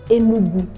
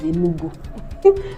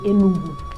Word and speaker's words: Enugu: Like, do you know that Igbo state, Enugu? That's the original pronunciation. The white man cannot pronounce it. He now says Enugu. But if you want to show that you are Igbo, say Enugu.